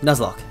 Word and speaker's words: Nuzlocke: Garu, you can't just spell it the way it's spelled. Lock is in lock and key. Okay, Nuzlocke.